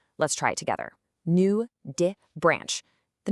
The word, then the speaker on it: nudibranch: It's pronounced nud branch. Let's try it together. New dbranch.